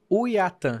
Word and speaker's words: Uaitã: Uiatã. Uiatã, não é. Aí você falou, fala assim que dá certo. Como é que é? É só lembrar como mineiro escolhe companhia aérea. Que é o Uiatã.